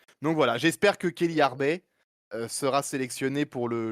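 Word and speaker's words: Arbez: Il y a aussi il y a une autre arbe d'ailleurs qui existe aussi qui joue aussi et qui est en équipe de France également mais là c'est avec un Z mais ça se prononce Arbet non pas Arbe mais Carla Harbet joueuse de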